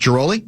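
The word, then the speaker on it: Ghiroli: Kenny Rosenthal, who I go way back with, and Brittany, is it pronounced Giroli?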